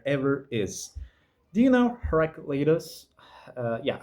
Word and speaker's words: Heraclitus: Do you know Heraclitus? Yeah, I think Heraclitus. I think it's the English pronunciation.